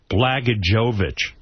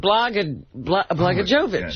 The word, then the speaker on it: Blagojevich: It was Senate for sale in Illinois, where Governor Rod Blagojevich... How do you say that guy's name? Blagojevich.